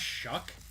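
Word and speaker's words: Shough: It's actually pronounced Shuck.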